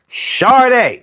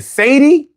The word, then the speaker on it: Sade: It said Sharday. Sade. For 40 years, I had to listen to people say Sade. Sade. These posters were official. I think she knows how to say her own name.